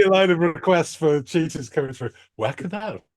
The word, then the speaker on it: Cheatahs: from a band called cheaters all right and it's not spelled like the animal it's ch h c h e a t AHS okay um yes gas um